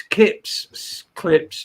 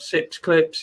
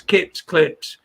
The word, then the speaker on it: Kips Clips: I don't suppose Ade will give one fuck or even two, but it's Kips clips, not Sips clips. It's Kips clips.